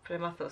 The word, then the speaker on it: Prematho: It comes from the film called Nannaku Prematho. Prematho. Prematho, sorry. I think I'm so. No, really I'm bad at pronouncing things.